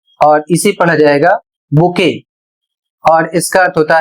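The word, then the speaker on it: bouquet: अगला शब्द है बी ओ यू क्यू यू ई टी और इसे पढ़ा जाएगा बुके और इसका अर्थ होता है फूलों का गुच्छा।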